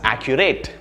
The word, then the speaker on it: accurate: you pronounce it well notice that this word actually has three sounds or three syllables and the stress is an ah right the first syllable accurate accurate it's not accurate